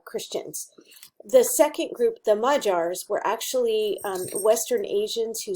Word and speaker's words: Magyar: major groups and yes it looks like the word magyar but it's actually pronounced mud jar it's Hungarian so the first group